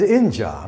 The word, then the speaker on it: injure: eu is very tricky here it is inja not injured market inja the stress is on the first syllable this is injury this